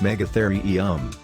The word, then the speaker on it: megatherium: the hairy creature number four megatherium the megatherium pronounced megatherium also known as a giant ground sloth used